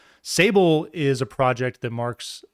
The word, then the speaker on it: Sable: He says that Sable is the darkest black on Earth and it rhymes with Fable.